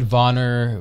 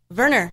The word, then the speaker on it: Wernher: to say it correct am I saying it wrong vana Verner Verner wrong see I'm not putting the German spin on it yeah so we don't